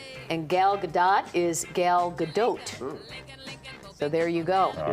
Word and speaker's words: Gadot: And Gal Gadot is Gal Gadot.